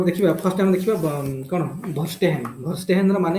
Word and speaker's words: Verstehen: तो बर्तमान गोटे गोटे देखा फर्स्ट टाइम देखा कौन भर्स्टेहेन।